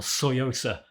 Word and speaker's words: Tsuyosa: this citizen nj015 or soyosa as I'm told it's pronounced with a silent T isn't a straight facsimile